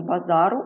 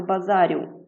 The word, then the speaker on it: базару: він не сунеться наприклад в слові базар змінюємо це слово базару наголос у нас твердо стоїть на літері а Ну і звичайно ж це тверда група Ми кажемо базару а не базарі або слово пасажир немає